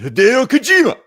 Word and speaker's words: Hideo Kojima: Yeah, his name is pronounced Hideo Kojima.